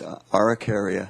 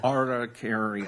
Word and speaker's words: Araucaria: How do you pronounce that, Mr. Downey? It's Araucaria Araucaria.